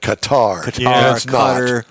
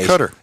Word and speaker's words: Qatar: then that's it for we used to pronounce that Qatar whatever the case cutter cutter mhm so uh formula